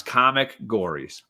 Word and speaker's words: Comicgories: across the bottom but it's spelled exactly like it sounds comic gories yeah boom so you